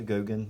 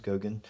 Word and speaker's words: Goguen: that is mine it's Gogan that's how you pronounce my last name as Gogan and this is me